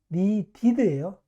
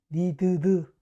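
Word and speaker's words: needed: 니드, 니디드예요. 니드드, 니드트 아니에요. 니디드.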